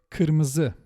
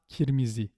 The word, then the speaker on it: kırmızı: If you end up saying kirmizi, then you need to pronounce the k in the back of your mouth. K. By the way, not k, but k, and also not ki. not ki, okay? Kırmızı, not kirmizi.